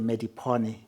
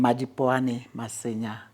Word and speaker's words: Madipoane: In the US they will say medipony. I'm mipame.